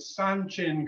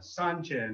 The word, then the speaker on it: Sanchin: so we're going to start off today with sun chin kata sun chin is spelled s-a-n-c-h-i-n and it's one of the ishin